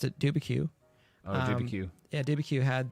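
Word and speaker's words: Dubuque: as I pronounced it, Dubicue.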